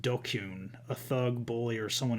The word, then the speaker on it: DQN: Pronounced Dokyun, a thug, bully, or someone who's part of the dregs of society.